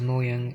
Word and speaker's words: Mojang: has put in or should i say mojang or for other people that pronounce it as more young i well it's actually